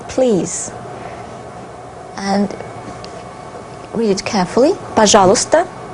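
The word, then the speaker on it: пожалуйста: and read it carefully pajala if you read it fast you do not pronounce these two letters and you can also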